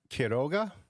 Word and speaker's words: Quiroga: Is it Quiroga?